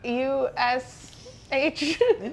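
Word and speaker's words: Kusch: K-U-S-H, I believe. Very fun. No, K-U-S-C-H. Okay, a little different. but pronounced Kush.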